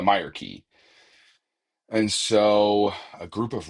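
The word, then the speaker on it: Myreque: He wants you to deliver some weapons to the Meer key is how we're pronouncing it. I've learned the Meer key.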